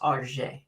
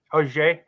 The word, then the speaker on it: Auxerre: I think it's Auger. Auger. I hit the pronunciation.